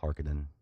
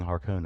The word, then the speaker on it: Harkonnen: doing as well as a person who knows how to pronunciate the word harkonnen that is that is that a good thing it is yeah everyone else is going around saying hearken and apparently this because